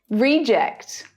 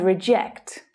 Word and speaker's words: reject: to our decisions you need to suggest alternatives reject and reject reject reject our football players are all rejects from